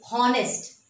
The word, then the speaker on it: honest: We never used to say honest. We always say that it is honest. H is silent here.